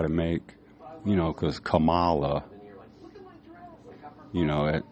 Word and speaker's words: Kamala: people some white people they'll be saying her name wrong camela Cala you know people try to make you know cuz Camala you know it's in